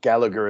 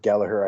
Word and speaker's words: Gallagher: My name is Patrick James Gallagher, or Gallagher as we say over here, but Gallagher I think is a proper way to say it.